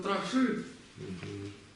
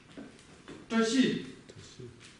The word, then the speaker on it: བཀྲ་ཤིས: В данном случае главное помнить, что вот эта са, она ничего не меняет, получается тащи. Тащи. Вот, если его произносить правильно, вот так оно произносится.